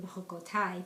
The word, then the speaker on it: Bechukotai: This week it's Parashat Behar-Bechukosai, or Bechukotai, depends how you pronounce it, the Sephardi way or the Ashkenaz way.